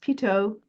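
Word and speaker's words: Pitot: and it's called the PTO tube. Notice how it's pronounced. PTO. That's because it's French and a number of parts of the airplane are French words because the French were instrumental in early design of aircraft.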